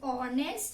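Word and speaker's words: honest: Last है हमारा word ऑनेस्ट. ये आपने वॉवल्स में भी बहुत बार सुना होगा. क्या साइलेंट होता है, H साइलेंट है.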